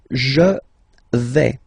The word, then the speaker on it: vais: The first form is je vais. Okay, so remember, final S not pronounced here. Je vais. Okay, when you combine this AI, you get the sound E, really open.